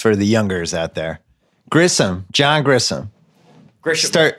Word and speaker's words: Grisham: It's John Grisham. You say it how it's spelled. John Grisham. You just pronounce the H.